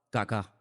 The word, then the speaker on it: Kaká: Se llamaba Kaká. Menos mal que tenía el acento ahí. Si llega a tener el acento en otro lado, peor todavía.